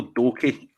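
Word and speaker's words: Doekhi: Was it Duke or did you say his name? No, Danilo Doki. Doki. Yeah. I was actually Duke there.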